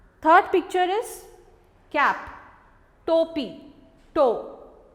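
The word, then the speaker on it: टोपी: Third picture is cap, topi, toe. When we add o symbol, it pronounced toe, ta plus o symbol, toe, topi.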